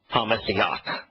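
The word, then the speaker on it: HaMashiach: In fact, even the Hebrew pronunciation, ha-Messiach, the Messiach, and it means the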